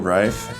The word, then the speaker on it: Reif: my last name is Refe or Reef. Uh but it is pronounced pronounced rife.